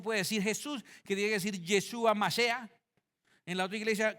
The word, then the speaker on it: Yeshua: es en su nombre y el nombre es yeshua masea El Mesías Jesús yeshua masea y entonces